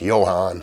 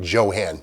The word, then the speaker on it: JoHan: now johan is short for john hanley it's not pronounced johan sebastian bach but johann john hanley in 1947 he started